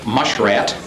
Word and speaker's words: muskrat: Often pronounced mushrat, the name became a term of endearment amongst the descendants of the old families of the area.